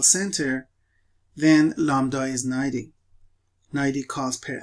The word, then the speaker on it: lambda: of course one parameter lambda and uh remember that when you pronounce it that b is not pronounced you say lambda which is the rate